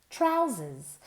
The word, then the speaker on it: trousers: Se escribe con una O, pero se pronuncia como si fuera una A.